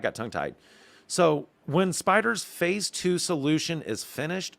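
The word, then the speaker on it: Spydr: project y can now be referred to as spider and yes it is spelled as capital s p y capital d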